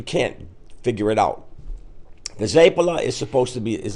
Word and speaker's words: zeppole: I had for you because I've heard it pronounced zapa zpp zap how do you say it properly zapa okay and if it's more than one plural how do you say it zapa so there's no ask the end I love